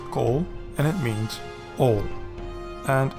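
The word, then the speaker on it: כל: And it is a single closed syllable. Hence, a Comets Khatouf. So you pronounce it as kol, and it means all.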